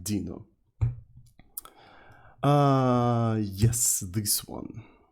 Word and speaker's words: Deno: about a thing called Deno, or Dino. I think it's supposed to be pronounced like Dino.